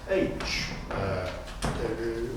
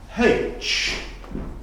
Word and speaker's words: aitch: We don't say "we was sat" or "we was stood", phrases which are grammatically incorrect and the letter 'H' is pronounced 'aitch', not 'haitch'!